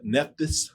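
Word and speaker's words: Nephthys: Neptis.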